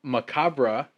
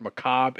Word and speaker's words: macabre: We found out that macabre is pronounced that way in France and England, and it's pronounced macabre in the United States.